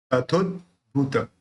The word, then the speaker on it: तथोद्भूत: स्वात्म नैव तथोद्भूत, तथोद्भूत है ना। तो द बोलते समय जो जीभ जो है ऊपर तालु पे टच होती है तो वहां पे टच होके रहेगी और फिर अपन भ का उच्चारण करेंगे।